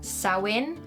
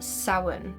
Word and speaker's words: Samhain: It has a few different variations, but the most appropriate that I found are sin or sin.